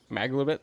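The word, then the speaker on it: Maglubiyet: She reports they've abandoned their god Maglabiet in favor of someone called the Absolute. The scandal. That's the first time I've ever heard the Goblin God pronounced correctly. Maglubit.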